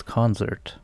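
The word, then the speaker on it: Konzert: orchestra live star concert spelled with a K and now I didn't say concert it's with a z so it's concert just in case you thought I was sounding a little weird I'm sure it's pretty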